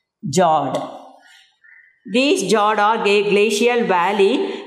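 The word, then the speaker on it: fjord: Then next one is, the last one is what we can call jawed. F is silent. Jawed.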